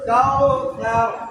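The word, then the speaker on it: الْكَوْثَر: না হয়ে হবে তাইনা আতাইনা আতাইনা আতাইনা কাল কাউসার কাল কাউসার কাল কাউসার কাল কাউসার কাল কাউসার কাল কাউসার এই যে তা এটা বিশেষ করে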